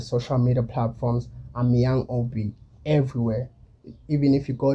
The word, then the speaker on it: OB: Well, my name is Obi and I'm from the cold city, rhyming with the word OG.